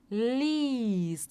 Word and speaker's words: liest: Então, cuidado, a gente não pronuncia o E, a gente só faz o I um pouquinho mais longo, tá? Então, ó, liest.